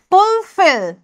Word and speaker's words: fulfill: syllable বুলি কয় again the word fulfill is pronounced with more force on the second syllable that is we say the second syllable more strongly than the other see fulfill আমি যেটা কানেৰে শুনিবলৈ